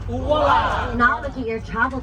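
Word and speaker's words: ʻuala: Say it like this, uwala. Uwala.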